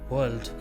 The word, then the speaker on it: world: वर्ल्ड का सही pronunciation है वर्ल्ड। ये सिंगल सिलेबल वर्ड है।